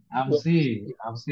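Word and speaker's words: أمسِ: Ghabat amsi ghabat ams ghabat amsa hafsatu Amsi itu termasuk dorof yang mabni ya. oh apa Ustaz? Jadi bacanya memang amsi ya.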